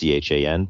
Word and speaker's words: Tjan: is Chan uh my last name is pronounced chn but spelled like Tom J A an and they can uh